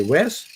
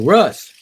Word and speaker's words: Russ: worse if I say my name is Russ they say Wes no Russ I've had to spell it a couple times believe it or not if Russ clarity's name wasn't Russ I wonder if he would pronounce it Roost I've had some uh